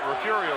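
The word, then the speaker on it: Refugio: what we talked about refurio is spelled r-e-f-u-g-i-o probably as mispronounced as any city in texas wouldn't you think i'm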